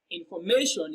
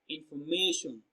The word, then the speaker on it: information: Now, information is pronounced and broken down into syllables as information. Information. So the stress falls on the third syllable, may.